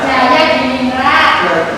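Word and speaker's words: Djajadiningrat: Teori Persia, tokoh Husain Jajalina, Jaya Diningrat. Jajah Nah, tulisannya Jajah itu adalah ejaan lama ya, tulisannya ejaan lama tapi bacanya J.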